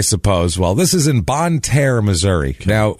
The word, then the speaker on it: Bonne Terre: word t e r r e that's not bonit ter that's not Bonet ter that is Bon originally it was bonit ter